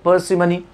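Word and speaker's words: parsimony: अब अगला लिखा परसिमनी, परसिमनी याद रखेंगे, परसिमनी, यहाँ आर को थोड़ा सा ड्रॉप कर शॉर्ट साउंड लिया जाता है, ये चीज़ें बाद में बताऊंगा मैं।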